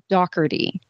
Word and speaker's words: Daughtry: with the guy in his last name it was spelled Daughtry right but he said it Dougherty which is just kind